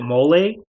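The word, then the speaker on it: MOLLE: it's got i think i think you pronounce it mole so it's the m-o-l-l-e so you can attach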